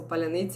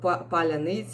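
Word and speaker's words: паляниця: modern words and they do not uh tell pronounce it correctly so palanita it was like a czech world uh for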